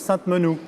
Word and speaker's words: Sainte-Menehould: Et donc j'ai bien retenu, on prononce Sainte-Menehould. Sainte-Menehould. Bon, voilà, parce que ça énerve ceux qui y habitent quand on prononce mal, parce que j'ai déjà fait au moins...